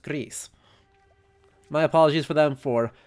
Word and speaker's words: Gris: spanish which means that the name of the game should be pronounced greece my apologies for them